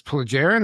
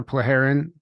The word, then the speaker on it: Plejaren: the by the way how do you say this plagarian or plearin? Plaggarin. Plleagaren.